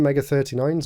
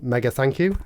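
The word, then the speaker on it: Mega39's: We've got the Switch one, Mega 39s, or Mega Thank You is how it should be pronounced.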